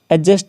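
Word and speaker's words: adjust: ये वाला नेक्स्ट देखिए एडजस्ट एडजस्ट बोलेंगे इसको ठीक है इसमें दी है वो साइलेंट रहता है नॉर्मल भी बोल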